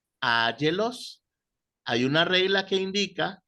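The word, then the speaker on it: ἄγγελος: Áyelos. Ángelos. Hay una regla que indica, que veremos cuando entremos a gramática, que la doble repetición de gamma pronuncia una N. Entonces es ángelos.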